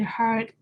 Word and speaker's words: hard: So when you pronounce hard, make sure you roll your tongue on the R and a soft D at the end, so should be hard.